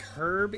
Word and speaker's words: herb: And I think Herb is a similar situation. You're supposed to pronounce the H.